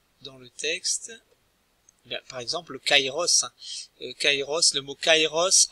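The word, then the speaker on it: καιρός: peu plus tard donc kairos ça commence bien kairos et non queiros l'édifice tong qui sont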